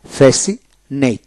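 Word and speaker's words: fascinate: science এভাবে হবে তারপর হল ফেসিনেট ফেসিনেট এফ এ ফে সি আই এস আই ফেসি এন এটি ফেসিনেট অর্থাৎ এস আই এন এটি ফেসিনেট সের উচ্চারণ হলো না এরপর হল কনসাস কনসাস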